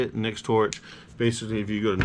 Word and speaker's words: Nextorch: Nextorch.